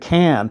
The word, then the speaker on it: Can: releasing for the band can or khan depending on how you like to pronounce it uh german band and this is live in stuttgart 1975.